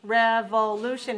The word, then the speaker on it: revolution: Revolution has 3 dots, right? rev.o.lu.tion. Where do we see a stress mark? After the third syllable? Okay, revolution. So this is 4 syllables. Stress on the third, 4-3.